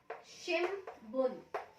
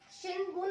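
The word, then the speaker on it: 新聞: लिखने में शिनबुन ही आएगा, लेकिन इसको प्रोनाउंस कैसे करते हैं, शिमबुन, शिमबुन। शिनबुन अगर आप बोल रहे हो तो भी ठीक ही है, क्योंकि समझ आ रहा है कि आप क्या कहना चाह रहे हो, लेकिन जो जापानीज पीपल होते हैं वो शिमबुन बोलते हैं।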